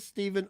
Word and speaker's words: Stephen: I said I know it's Stephen King, and I know he spells it Stephen, but he pronounces it Stephen.